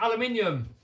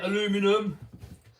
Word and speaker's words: aluminium: Yes, he said aluminium. You Americans say aluminum. I can't pronounce it properly. Here in the UK we call it aluminium.